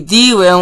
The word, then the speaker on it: D-Rim: You see D-Rim, or pronounced as Drim, which basically is code name for Diamond Rim.